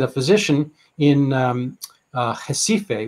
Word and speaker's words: Recife: physician in um uh jessife which is spelled recife but pronounced differently uh northeast brazil tropical